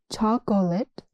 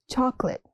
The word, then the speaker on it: chocolate: Chocolate, not chocolate. It's chocolate.